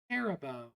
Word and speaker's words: Haribo: Haribo, is that how you say it? I always said Haribo. Haribo. Okay, thank you for fixing my pronunciation.